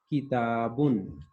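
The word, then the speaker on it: كتابٌ: دو زبر یا دو زیر یا دو پیش کے تلفظ میں جو نون کی آواز ظاہر ہوتی ہے اسے نون تنوین کہتی ہے. جیسے کتابن، اس میں نون کی آواز آتی ہے لیکن نون لکھا نہیں جاتا.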